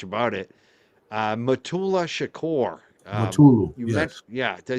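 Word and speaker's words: Mutulu: Uh Matula Shakur Matulu Yeah. Did I say it right? Mulu. Yes. Matulu.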